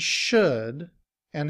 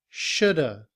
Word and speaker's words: shoulda: However, in reduced form, we combine the word should and have together.